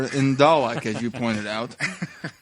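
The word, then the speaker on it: Dalek: is no R in dollak as you pointed out the sound of the south of England has what is called a long a sound the north has a short a sound although I live in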